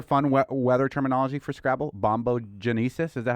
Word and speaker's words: bombogenesis: Bombogenesis. Is that how you say it? Bombogenesis.